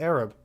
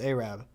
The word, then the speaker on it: Arab: In fact, when I was younger, I thought it was actually pronounced Arab. It is pronounced Arab.